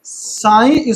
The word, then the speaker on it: psi: साई, ठीक है ना, सॉरी PSI गलत पढ़ दिया मैंने, PSI साइन पढ़ते हैं इसको, ई साइलेंट है उसमें, साइन पढ़ते हैं।